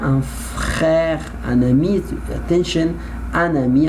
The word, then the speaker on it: un ami: Attention, un ami, I must pronounce the letter N because I have vowel.